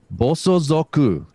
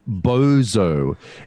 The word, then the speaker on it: bosozoku: okay it is pronounced bosozoku it is spelt it is spelt bo s Oh boss are you boss sonsaku it is not bozo it is not bazooka it is not backwards